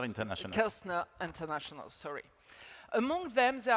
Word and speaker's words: Kerzner: How do you pronounce it? Kerzner International. Kerzner International, sorry.